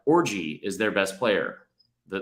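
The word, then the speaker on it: Orji: Like, Orgy is their best player, the linebacker. His name's Orgy. How's it spelled? Not like orgy, but it's still pronounced that way, which is a bold move.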